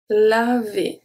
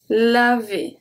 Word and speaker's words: laver: Laver. Laver. So remember, ER at the end make the sound E. Laver. Laver.